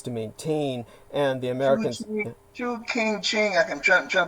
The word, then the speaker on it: Chongqing: Chu King Ching, I'm trying to pronounce the name of it. Chongqing.